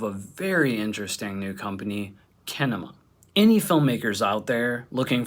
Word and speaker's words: Kinema: the founder of kinema that's pronounced kinema right yep you got it right it's like cinema that's what i thought